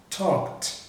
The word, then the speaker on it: talked: Esse verbo, que é o verbo falar, você tem aqui, ó, talk, não tem vibração também, então você vai pronunciar o ed com som de T. Então você vai pronunciar assim, ó, talked, talked.